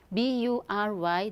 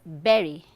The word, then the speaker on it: bury: Okay, so the first word, see, we often hear people saying or pronouncing this word as bury because they look at the letter U, right? B-U-R-Y, they say bury, which is wrong. Okay, the correct pronunciation is berry, not bury.